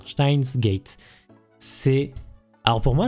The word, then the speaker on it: Steins;Gate: Je le prononce comme ça normalement. Steins Gate.